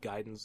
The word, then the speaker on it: Gaiden: shut up and jam gayen giden believe gaiden's the the correct pronunciation pardon me um and